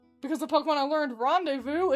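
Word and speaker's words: rendezvous: the Pokemon I learned rendevous isn't pronounced rendees.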